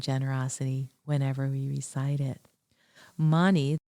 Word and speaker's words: mani: Money, two syllables, is associated with dissolving jealousy and releasing attachment to fleeting pleasures.